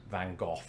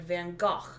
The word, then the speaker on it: Van Gogh: correct um so yes in britain we say van gogh here in america growing up i was conditioned to say van gogh but increasingly i've heard americans say things like van gaach or van gogh i wonder if doctor